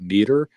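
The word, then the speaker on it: Meater: I personally use a product called uh meter uh like spell it me a t er um it's a Bluetooth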